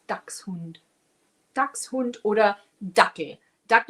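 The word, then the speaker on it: Dachshund: It's ducks hund. It's a hund a dog and he chases ducks.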